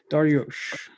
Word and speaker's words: Daryoush: But it's like these osh sound. And so your technique works perfectly, because other people don't pronounce it as well as you do, and you got it pretty quickly. Daryoush.